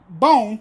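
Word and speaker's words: Bohn: If I'm Mike Bone, yes, I finally said his name right.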